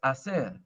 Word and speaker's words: hacer: Yo quiero hacer. So I learned to take that H out. It's just hacer, hermano, hermana, You hermosa.